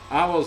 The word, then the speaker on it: Avo: And yes, if you've seen these, they are not pronounced AVO.